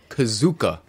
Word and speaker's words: KuZOOk: is good yeah okay this game is called kazuka kazuka this is spelled k-u-z-o-o see the kazuka I know is